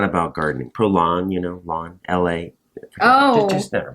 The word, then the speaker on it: Prolon: One I did was Prolon. It's great. Prolong. Prolon. Prolon. I spell that for us so I Yeah.